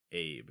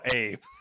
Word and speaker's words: Abe: Phonetically, yes. I guess that's true. And then we have the whole Abe Lincoln thing, which doesn't help us. Which Abe Lincoln. Exactly. That's the American part of it, where I just see Abe and I go, yeah. And there's no accent on the E.